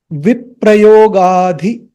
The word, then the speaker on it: viprayogādhi: Om govinda, govinda, govinda, viprayogādhi, not the, there is a H sound.